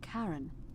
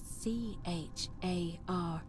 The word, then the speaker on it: Charon: It's just as you described it, only your pronunciation is a little off. The name you heard wasn't Charon. It was C-H-A-R-O-N, as Ooh.